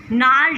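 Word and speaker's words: gnarled: नाल डिसीज़. इस वर्ड में हम जी को प्रोनाउंस नहीं करते हैं.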